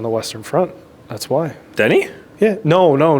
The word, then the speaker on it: Denis: just saying Denny like is it Denise or is it Denny it's Denny is it Denny yeah ass is silent I'm yeah I'm pretty